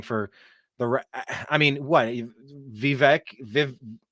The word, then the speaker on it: Vivek: The I mean what vivec Vivek good grief Vivek I think is how you say it Vivek I mean you